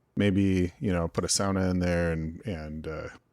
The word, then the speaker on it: sauna: So, but not a sauna, a sauna. No, sauna. Sauna. Yeah, as a true Finn would say, the one word that everybody knows, they all mispronounce.